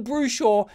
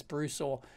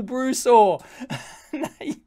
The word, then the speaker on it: Brusaw: or they've gone full brush or you never Bruce or sorry I keep pronouncing that wrong I think it's Bruce or you never go full